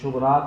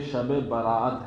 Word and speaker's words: شب براءت: تلفظ صحیح ہونا چاہیے۔ ہمارے بہت سے الفاظ اس کو بولتے ہیں شب رات، یہ شب رات نہیں ہے بلکہ یہ شب براءت ہے۔ ہمیں چاہیے کہ جو